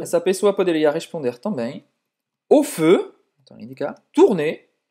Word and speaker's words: au feu: Então, vai lá, O é o som do O normal e feu faz a boca do O e fala aí. Au feu, au feu, au feu.